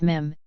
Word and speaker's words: meme: A mime is a piece of patterned information carried and expressed by a human brain, just as a gene, which rhymes with meme, is a piece of patterned information carried and expressed by DNA.